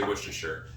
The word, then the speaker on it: Worcestershire: how i say it i believe they say worcestershire but there's a lot more consonants in there than they uh give a credit for and i believe it's probably one of the most um what did i say mispronounced word in the english dictionary an english language